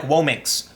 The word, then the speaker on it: womxn: Bradberry rants says whoa minks you can see they literally had to spell the word differently with an i and the ax at the end to make it sound like whoa minks otherwise people look at this and we'll say winix n' therefore i believe oh